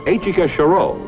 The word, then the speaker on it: Etchika Choureau: them marry me just say yes right pronounced achika chiro but you'll pronounce her terrific when you see